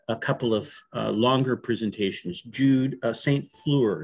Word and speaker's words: Jude St. Fleur: Jude St. Fleur, is that the correct That's pronunciation? Correct.